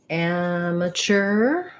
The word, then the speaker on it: amateur: In American English, first syllable stress has the A black cat vowel. I'll do the IPA for you first. And then this is a strange spelling. We say it, the T makes the CH sound. Amateur. And then we just again have our unstressed at the end. So it sounds like amateur.